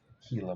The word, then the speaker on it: Gila: It's pronounced Gila monster. I always thought it was Gila monster. I don't know. But yeah, it's Gila monster.